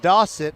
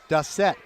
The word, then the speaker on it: Dossett: Well, yeah, I got to get all the local TV people to know that it's Mason Dossett as in faucet. So many of them are calling him Dossett.